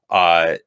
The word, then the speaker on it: Ute: an image of it uh this particular mascot was respectfully approved 30-plus years ago with the u tribe hopefully pronouncing that right or ute tribe you it's you you tribe yeah you you you